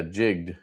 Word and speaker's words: jigged: One syllable. Yeah. Jigged. Very nice though.